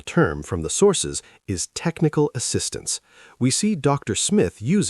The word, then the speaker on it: technical assistance: For these compound nouns, the main stress falls on the first word. So it's a development program. It's technical assistance. If you stress the second word, like technical assistance, you sound a bit like you're still learning. But if you hit that first word with confidence, you sound like a leader.